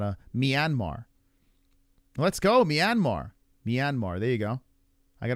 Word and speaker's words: Myanmar: pronounce Myanmar. Oh, it's Myanmar.